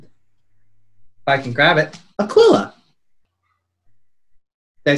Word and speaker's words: Aquila: They are both from, if I can grab it, Aquila.